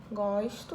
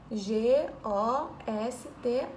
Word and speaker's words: gosto: Gosto, ó. G-O-S-T-O. A palavra é idêntica. Mesma escrita. Porém, a pronúncia é diferente. Vamos ver. Eu gosto e meu gosto.